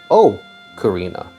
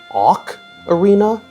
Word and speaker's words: Ocarina: So, everyone tells me it sounds like I'm saying Oak Arena, but I'm just trying to say Ocarina, which is a perfectly normal thing to do. Unlike the people who tell me it's pronounced Awk Arena, I don't know.